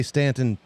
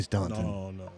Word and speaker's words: Staunton: And you say Stanton too. yeah, Yeah. Staunton. Don't say Staunton.